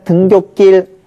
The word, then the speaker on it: 등굣길: 일단 등굣길 시옷 발음을 하고요. 그 다음에 등교는 한자어고 길은 순우리말이니까 어떻게 해야 되죠? 시옷을 넣으면 돼요.